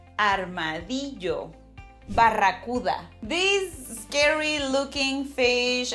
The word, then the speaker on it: armadillo: I know, in English you say something like armadillo. So these super cute animals, their name en español significa, it means something like little armored ones. Focus on that Spanish pronunciation. Armadillo.